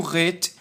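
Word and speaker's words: ח: do Ret perceba que o Ret ele é grudado e ele é o som de h mais forte não é Ah e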